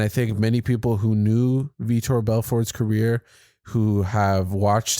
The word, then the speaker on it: Vitor: That was the fight that he came into the UFC, and people were calling him Victor at the time, when his name is actually Vitor, or, it might be pronounced differently in Brazil.